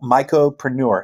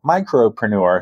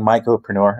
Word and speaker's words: Mycopreneur: would recommend just Google micropreneur m-y-c-o-p-r-e-n-e-u-r and thank you for saying it correctly so many people go micropreneur so thank you for saying myopreneur appreciate that and if you